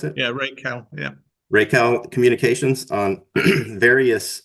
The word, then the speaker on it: Racal: Is that how you pronounce it? Yeah, Racal.